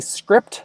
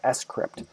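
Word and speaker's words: scrypt: s crypt so it to me I always want to say script when I look at it but it's actually pronounced s crypt this was originally designed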